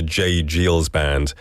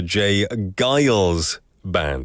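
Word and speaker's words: J. Geils Band: I incorrectly read it as the J. Giles Band, but looking at this pronunciation guide is the J. Giles Band.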